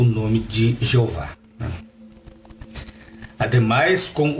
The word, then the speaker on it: Jeová: Ou seja, esta pronúncia Jeová, em português, ela está correta.